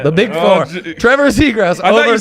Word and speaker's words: Zegras: Zegras. Are you sure about Yes, it's not. There's no ass in his name.